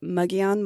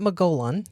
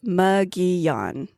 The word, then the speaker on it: Mogollon: So this guy is known as the muggon monster. And that is how you pronounce it by the way. M O G O L L L O N. It's not Molan. It's not Molan. It's not Mgoan, which is how another podcaster pronounced it.